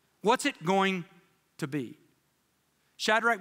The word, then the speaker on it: Shadrach: I couldn't pronounce Shadrach, Meshach, and Abednego, so dad taught me, shake the bed, make the bed, and the bed will go.